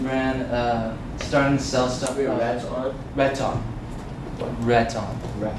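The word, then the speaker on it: Rettam: Red Tom? Red Tom. Red Tom. Red Tom. Yeah, Red Tom. It's like you're saying red, but you say Red Tom.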